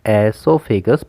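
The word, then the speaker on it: oesophagus: अब यहाँ पे याद रखना है आपको कि जो ओ है यहाँ पे ये साइलेंट होता है, इसलिए हम इसको सिर्फ एसोफेगस प्रोनाउंस करते हैं।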